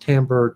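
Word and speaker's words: timbre: instruments produce different sounds a Timber sometimes pronounced tamber Timber is the quality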